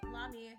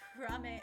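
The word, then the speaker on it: Lamy: Me and Mama manages the Barf collab, sub-unit, Botan, Ayame, Lami, pronounced Rame in Japan, and Fubuki.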